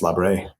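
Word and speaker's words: Labre: Benedict Joseph Rob, sometimes pronounced Labra, who was a homeless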